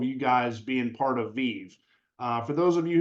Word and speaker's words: VIIV: it spoken out loud the proper pronunciation is VI uh it is a verb and it comes from the Latin where it has the meaning of Life come alive Lively uh we use